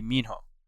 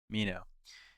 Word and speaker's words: Minho: and TV shows like for Mazerunner it'd be Minho. Um that's how you say his name. Thomas is cool. Thomas is like my second favorite, but I you know I think Minho is like Mino is probably like the best.